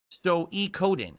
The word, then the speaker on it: Suikoden: I'm being told it's pronounced Suikoden.